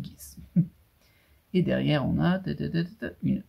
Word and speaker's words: Geass: Alors vous le prononcez comme vous voulez, moi je dis Geass.